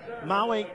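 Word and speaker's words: Mawel: And Maui Soler, M-A-W-E-L, but it's pronounced Maui, as in the island in Hawaii that sure looks good about right now.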